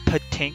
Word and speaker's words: Patink: If you ever wondered why I always pronounce Patink this way, it's because it's based off of potential energy.